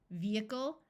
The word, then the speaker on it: vehicle: and du there are some other words where H is silent in the middle such as vehement vehicle and prohibition note that